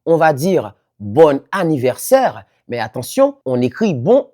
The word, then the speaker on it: bon anniversaire: C'est la liaison obligatoire entre un adjectif et le mot qui suit commençant par une voyelle ou un H muet. Ce qui fait que le N final redevient sonore.